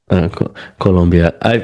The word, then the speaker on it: Colombia: No, I mean, so what, because you briefly mentioned it where when you were teaching in Colombia, am I saying it right? Yeah, I'm yeah, not, yeah. We go. Colombia.